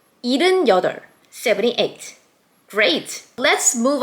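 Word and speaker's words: 일: 1 in Sino-Korean numbers is il.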